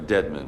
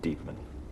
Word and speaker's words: Deadman: Mrs Hardwick this is Dr Deadman our medical examiner deedman I'm sorry it's pronounced deedman what lovely dark hair